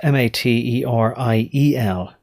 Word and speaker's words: materiel: It's spelled MATERIEL. So there's a subtle difference there between material and materiel. It's sort of a French way of saying it.